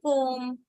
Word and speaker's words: comb: We say that when you have B at the end, MB, then this B gets silent. Okay, like in the word comb.